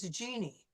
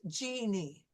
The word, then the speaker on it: Jeannie: And also the J is very different than what we usually use in English. Like, for example, my first name is Jeannie, and you'll notice my lips, Jeannie.